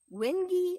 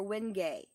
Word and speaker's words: wenge: w en GE and is pronounced windy or win gay depending on how you do it so wind get your